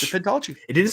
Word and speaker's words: pentology: It doesn't either, but as we're going to call it, it's going to be a pintology.